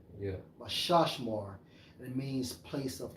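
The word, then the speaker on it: מִשְׁמָר: Guard, Strong's H4929, pronounced as Mashashmar. Yeah. Mashashmar.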